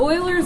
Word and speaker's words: Euler: not Euler nope modular Euler all right so Oilers method is a numerical approach to finding a